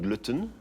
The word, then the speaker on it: Glutton: Alors, ma vision étant internationale, je me suis dit qu'il fallait l'écrire en anglais, donc glutton, qui a aussi une sonorité qui passe bien dans les langues latines.